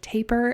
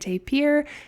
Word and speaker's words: tapir: lot of heavy research both pronunciations of taper and tapir seem to be equally used and in different dictionary guidelines so I would say use whichever one you prefer or whichever want